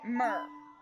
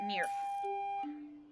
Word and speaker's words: Myrrh: a lot of us a long time to figure out how to say that word mer for the longest time i call it near don't ask me why there would be that p like sound at the end of it but that's what i called it i called it mirror let's go adventuring